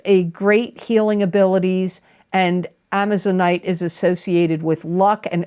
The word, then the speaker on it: amazonite: it in the past it's like the word Amazon with it at the end a m a z o n i t e amazonite it's a stone